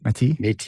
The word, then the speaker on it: Métis: Donavan is a father, husband, proud Red River Métis. Did I say it right? Métis? Métis, yeah. Métis citizen.